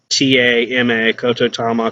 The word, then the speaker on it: Kotodama: Look it up, Kotodama, or Ko Kototama, Kotodama. Variations of how it's pronounced, spelled.